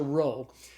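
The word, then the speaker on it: rho: But it's it's a row. So the row is the R sound like the R in the English word rod.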